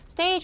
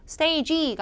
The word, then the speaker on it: stage: stage 할 때 조심. 자, 뭘 조심해야 되냐면은 자, 뒤에 G. 얘를 성대를 써서 유성음처럼 발음하지 않도록 stage가 아니고 stage 해야 되죠. 그래서 뭐랑 같이 들린다고요? G로 끝날 때 CH처럼 들리게 해줘야 돼.